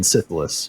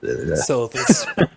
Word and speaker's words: Silithus: will be stabbing, Sargeras stabs Azeroth in Sithilus, which or Sithith, Silithus. there you go. That guy knows how to pronounce words.